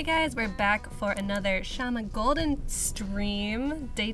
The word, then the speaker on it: Shyama: If you guys were here yesterday, you'll know that Shyama's an awesome illustrator, artist, designer, pattern extraordinaire. I don't know how you would describe yourself. Sure, that works. Okay. Shyama rhymes with llama.